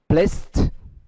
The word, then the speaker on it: placed: Một cái ví dụ khác đó là Place. Nó được phát âm là place. Âm cuối đó là S. E. C. E. Và đó là T. Placed.